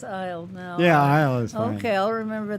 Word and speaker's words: Iyall: your name right um i was raised with the pronunciation aisle like walked down the aisle it's a native american